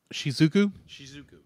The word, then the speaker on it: Shizuku: And it's just done beautifully because you have so many scenes where our main character, how do you pronounce her name again? Shizuku.